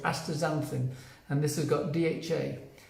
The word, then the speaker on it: Astaxanthin: It's spelt with an X in the middle, but it's called Astaxanthin, and this has got DHA.